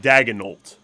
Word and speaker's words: Daigneault: Mark Daigneault.